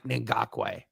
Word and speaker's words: Ngakoue: I'm going to send the Yeah, so apparently I've been getting called out for saying that it's Ngakoue is how you say it, not Ngakoue. Yannick Ngakoue.